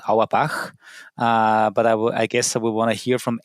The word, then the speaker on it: Auerbach: And uh it was Adam and I the way I pronounce his last name with my German background is Awabah.